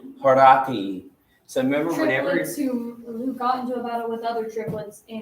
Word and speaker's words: Horatia: Yeah, and in a standard like English accent, yeah, we'd say Horatia, right? So kind of like Americanized. there's some Latin words we just pronounce it like in English, so we use it like But this would be Horati. Like the I sound, you need the diphthong AE for that.